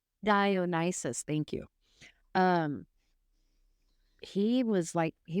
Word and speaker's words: Dionysus: Um, Dionysus. Dionysus, thank you.